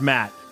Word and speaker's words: Mottle: Well, this is the scenario because we have a guy named Mottle in the chat, right? Mottle. And he says it's pronounced Matt.